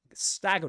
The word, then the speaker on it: stagger: enemies, which, I mean, stagger is a key word in the game. To stagger, without pronouncing the r at the end, that's in British English. In American English, that's stagger. Stagger.